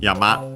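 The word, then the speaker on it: 山: Uh then we have yama on its own yama accent on the last syllable we have uh uh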